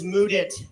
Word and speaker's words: Mudit: My name is Mudit. That's spelled with the words mud and it back to back.